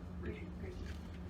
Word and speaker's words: Ricci: It's pronounced Ricky.